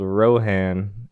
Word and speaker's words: Rohan: there is a company in the UK called Rohan that's how it's pronounced auro Haan and they make just like